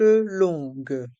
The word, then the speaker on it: longues: Ici, les lettres O et N se prononcent on et les lettres G et U se prononcent gue. Le U ne se prononce pas.